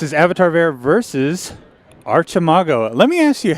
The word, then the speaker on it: Archimago: I pronounce it Archimago. Okay. Yeah, I don't know. I can't say the arc. Uh-huh. I have to say arch, like Archmage. Yeah. But I'm okay switching to Mago.